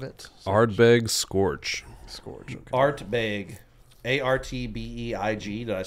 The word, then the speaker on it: Ardbeg: Artbeig. Artbeig. Did I spell that right? ARD. Oh, D. Ardbeig. Ardbeg.